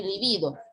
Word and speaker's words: libido: Igual pasa para el término lívido y libido. Si se escribe con la B larga, es libido, acento grave, que termina en vocal, no se tilda.